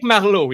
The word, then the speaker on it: Marleau: It's Patrick Marleau, you know.